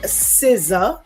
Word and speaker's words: SZA: That's with Keke Palmer and SZA. I think that's how you say her name. Yes. Is that correct? SZA, yes.